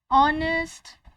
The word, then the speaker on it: honest: Because for words where the letter H is silent, we have to use indefinite article an before those words. Words where H is silent, words that are starting with H and the H is silent. For example, hour, honest, honorable, honorary. In all these cases, we have to put indefinite article an before these words because the letter H is silent in these words.